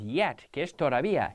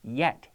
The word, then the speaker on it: yet: J no yes yes so if we have the word yet yet yet yet and then I have jet jet jet J Jet Jet Jet yet yet yet yellow Yow yellow yellow Jello jell you see with the J my lips are rounded with the why it's more of a smile and I prefer the